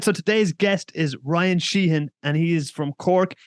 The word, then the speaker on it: Sheehan: Oh, I'd say Sheehan, but he'd say Sheehan. Sheehan. Yeah, people, foreigners technically say it wrong, but look, we won't get into that today.